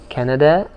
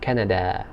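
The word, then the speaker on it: كندا: say i'm from canada canada that's how they pronounce this word the name the this word in the arabic language canada canada and minneapolis are you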